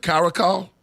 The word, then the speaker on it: caracal: amazing I never know about the car the caracal oh okay crazy cat did I say it